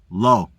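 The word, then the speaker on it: לא: Lammed olive means no and is pronounced low.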